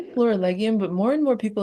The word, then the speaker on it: Florilegium: people have been saying Florilegium that I'm like, maybe I should change the way I pronounce it because I think it probably makes more sense. But I say Florilegium if that helps.